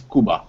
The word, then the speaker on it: Kuba: English name is, but the short form is Kuba, like a country.